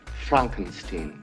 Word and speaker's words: Frankenstein: comedy by the name of Young Frankenstein it's pronounced Frankenstein the film is considered by anyone with good